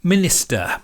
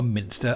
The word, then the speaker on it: Minister: results were absolutely fine i mispronounced the camera at the start it's the minister not a minster a minister d i